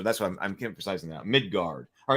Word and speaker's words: Midgard: So I'm pronouncing it Midgard now. We were looking at the Midgard book. So apparently I was pronouncing it too much like a U. But so that's why I'm emphasizing that. Midgard.